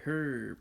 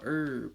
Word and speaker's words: herb: if you you know the H is silent so you really you